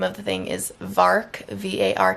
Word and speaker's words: VARK: video but the name of the thing is vark VAR K and if you go online to